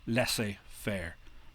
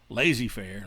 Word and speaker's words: laissez-faire: And that's how you pronounce it, by the way, en français, laissez-faire, not laissez or lazy-faire, like my high school teacher used to pronounce it.